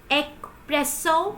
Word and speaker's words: espresso: pronounce this do you pronounce it like espresso there is no car sound it pronounce it in the same way this is like espresso espresso there is no car sound here so I hope so